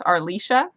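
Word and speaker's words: Arleisha: was a kid because my name is are Leisha so it's just like Alicia but with an arm or Alicia and I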